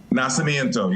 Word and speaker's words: Nacimiento: Keith, the town's pronounced Nacimiento. Is that how you say it? Nacimiento, yes.